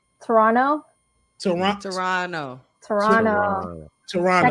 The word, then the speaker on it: Toronto: to your people in Toronto wait how you say supposed to say Toronto toron Toronto Toronto Toronto technically neither of the te's are supposed to be pronounced but neither of the